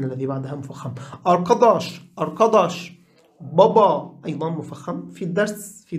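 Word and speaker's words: baba: بابا مفخم جدا، في لهجة البحر الأسود يقولون بوبا بوبا، يعني تصبح هذه قريبة من الواو، لكن اللهجة في يعني الرسمية في إسطنبول بابا بابا مفخم طبعا.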